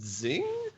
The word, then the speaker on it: Xing: like is a game called Zing it's uh it's spelled x i n and then it has